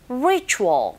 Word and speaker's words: ritual: Ritual, 발음하실 때 R 사운드 처음 소리 내실 때 잘 안 되시면 힌트는요, 우 하면서 re 하시면 돼요. Ritual. 그런데 이때 혀는 어디에도 닿지 않게 발음하셔야 됩니다.